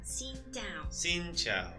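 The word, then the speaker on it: Xin chào: hello we say s sinow sinow yes so it's flat tone down and down s Chow it's like Chow in um Italian Italian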